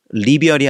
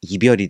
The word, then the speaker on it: 이별: 원래는이 이자는 리라는 뜻으로 아 리라는 발음으로 원래는 읽혀요. 근데 우리나라 말에서는 리을이나 니은이 앞에 오지 못합니다. 그래서 불리라고 하는 리자가 앞에 오면 리별이 아니라 이별이 되죠.